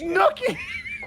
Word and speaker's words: Snooki: Snooki. Snooki, thank you. There isn't even a B in her name. That's 5 more syllables, Monty. I couldn't remember. It rhymes with cookie.